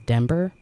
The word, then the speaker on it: Dember: I'm pretty sure his mom meant to call him Denver, like Denver, Colorado, but it's spelled with an M, not an N. So it's Dember. But either way, I know